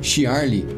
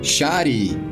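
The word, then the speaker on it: Shyarly: acontecimentos no futuro a madame Shirley ou então shari como é pronúncia japonesa ou dom de adivinhação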